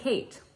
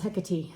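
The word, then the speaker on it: Hecate: so I joined her Club um and this hecky was was the color of the month for October is it he or is it heate no it's HEC I looked it up in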